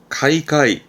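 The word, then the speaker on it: 開会: 카이카이, 카이카이. 개항, 항구의 항자입니다.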